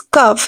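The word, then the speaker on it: cough: I have a bad cuff the word is cuff here we will pronounce the letter G as F right I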